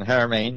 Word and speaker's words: Haramein: Nassim Haramein. Mm-hmm. Very good. Yes. It's a hard pronunciation. Haramein, yes.